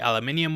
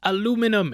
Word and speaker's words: aluminium: instead of a light aluminium one, so he could really feel the weight of it. Aluminium. You better not be writing it's pronounced aluminum in the comments, I'll bloody get you.